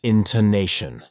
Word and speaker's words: intonation: are stressed for example the word intonation has four syllables is pronounced intonation getting the word stress